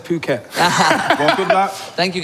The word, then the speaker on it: Phuket: I went, am I pronouncing it right? Phuket? Phuket.